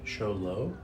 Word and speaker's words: Sholo: Show low? Yeah. Sure. Is this spelled different?